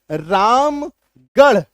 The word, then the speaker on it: रामगढ़: कुछ ऐसे naming word हैं खास करके जगहों के नाम वहां पे आर का उच्चारण ढ होता है। वहां पे आर का उच्चारण ढ होता है। जैसे रामगढ़ ढ अलीगढ़ ढ रायगढ़